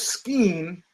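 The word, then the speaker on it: skein: tactical decision that his scheme which is I think how you pronounce it SK ke i n is better played out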